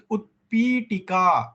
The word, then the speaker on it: utpitika: Sometimes the pronunciation with utpitika, the t, the th we should say, or we should. Yeah, no, you should actually use Mahaprana. Utpitika, like that. As much as possible, the ha should come.